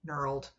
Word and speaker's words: knurled: Um, peened is p e ne d peened and knurled is k n I think it's e r l e d nurled.